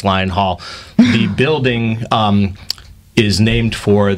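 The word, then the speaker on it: Lyon Hall: And many people do pronounce it Lion Hall until they realize it's Lion Hall.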